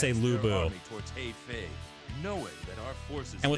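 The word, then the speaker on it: Lu Bu: I could not stand them saying Leo Buu. It's Leu Boo.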